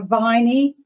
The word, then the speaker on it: Viney: Councillor Viney. Rhymes with Wiley.